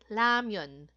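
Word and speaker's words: 라면: Ramon ' po ba pero pag tinanong niyo po yung mga Koreans ang pronunciation po nila is lamion so may recording po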